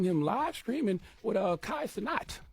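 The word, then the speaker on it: Kai Cenat: live streaming with a Kai sanat That's how you pronounce his name class not right sounds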